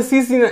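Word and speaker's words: scene: नाही चूक दादा राईट ठीक आहे सी इथं सीन सीन सीन म्हणजे काय होते बघा सीन म्हणजे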